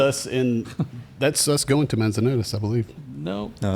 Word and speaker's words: Manzanares: they invited us all to this town called Manzanares. Did I pronounce that correctly?